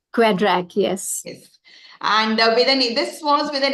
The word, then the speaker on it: QEDRAK: quedra ma'am have I got it right the pronunciation quedra yes yes and with an this was with